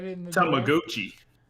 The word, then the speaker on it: Tamagotchi: Okay, then we got Tamagotchi Plaza, which they mispronounced Tamagotchi every single time they said it in the direct. Tamagotchi. Tamagotchi.